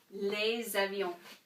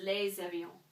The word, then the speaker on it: les avions: So this is going to be les avions. Okay? So, l'avion, singular. Les avions, plural. And why did I actually pronounce this as a Z right here? Because of that liaison that we talked about.